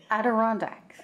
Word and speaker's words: Adirondack: I'm sorry, I can't pronounce the name. Yeah. Adirondack.